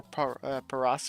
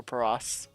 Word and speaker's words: Paras: Well, we might go for Paras or Paris. I'm not sure. I think it's pronounced Paris because Paris because it's parasite. I could be wrong on Vast.